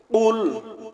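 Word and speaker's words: قُلْ: রাজিম বিসমিল্লাহির রাহমানির রাহিম কুল হুয়াল্লাহু আহাদ কুল হু আল্লাহু আহাদ কফ লাম পেশ কুল কফ লাম পেশ কুল কফ গলার ভিতর থেকে কফ গলার ভিতর থেকে উচ্চারণ হবে একটা হলো কফ আরেকটা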